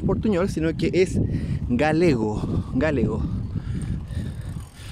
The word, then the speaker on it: galego: Galego. Puede ser como gallego, pero es galego.